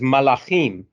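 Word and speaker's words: מלאכים: means messenger of god in the plural it me it is pronounced as malachim as such the role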